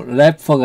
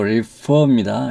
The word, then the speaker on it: refer: 네, 티켓은 ticket can refer to, refer가 아니고 refer입니다. refer로 발음해야 됩니다.